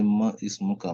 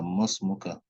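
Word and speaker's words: ما اسمك: You won't say Ma Ismuka, Masmuka.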